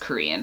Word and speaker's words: Qrion: it's spelled Qrion, and it said somewhere on a blog that it's pronounced Korean.